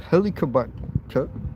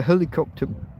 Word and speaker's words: Helicobacter: by a bacteria called Helicobacter pylori. If you go to your doctor and you said the helicopter bacteria, he'll know what you mean. You're saying it wrong, but fuck, he'll know what you mean.